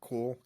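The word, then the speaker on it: KÜHL: The other one on my list is I don't know how to pronounce it. Cool, Kuhl, yeah.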